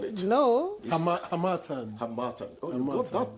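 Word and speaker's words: Harmattan: Hamatan. Oh, you got that pronunciation. Hamatan. You took it from me that day. I beg you. Like Hamatan. The stress is on the second syllable. Yes, Hamatan.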